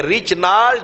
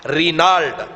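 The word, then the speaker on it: Reynald: تو برنس لکھا ہے، لیکن انگریزی میں اس کو ریچنالڈ، اس کے تلفظ پروننسیشن یہ ہے ریچنالڈ یا رینالڈ۔ عربی میں ہمارے مولوی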